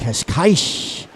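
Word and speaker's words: Cascais: Mariana from Portugal from the famous uh cash case. Is that how you say it? Kashka. Kashkaish area in Portugal.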